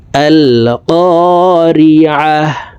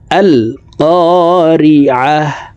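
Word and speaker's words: القارعة: তখন এইভাবে পড়ব, দেখুন, আল কারিআহ। এখানে আলে পড়া যাবে না, আমেলাহ করা যাবে না। আল কারিআহ, আল কারিআহ, মাল কারিআহ।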